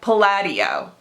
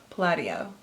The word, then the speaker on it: Palladio: They gave me a pronunciation little guide. No, Palladio. I already did it wrong. They capitalized LAD, right? Palladio.